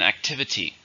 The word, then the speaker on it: activity: many syllables are an activity there are four stress no second activity it was a